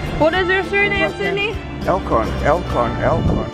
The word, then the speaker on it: Elkon: Elkon. How do you spell it?